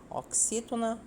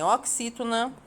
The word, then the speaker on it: oxítona: Muito bem, oxítona são palavras cuja última sílaba é a tônica.